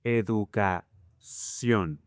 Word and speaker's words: educación: It turns out that in Spanish, most words ending in CIÓN, you will place the stress in the last syllable, like this. Revolución, educación.